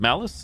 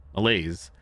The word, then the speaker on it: malaise: Malice, it's not malice. Malaise, his pupils are slow to react, and he has noted visual manifestations.